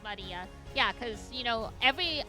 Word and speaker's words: Maria: Of course, Maria is pronounced Maria.